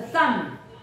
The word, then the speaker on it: thumb: that number six a thumb 好 m b m b 它的 b the b is silent okay now let's review